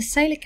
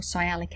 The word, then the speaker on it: sialic: your lung cells and the salic acid or sialic acid some people pronounce it which is actually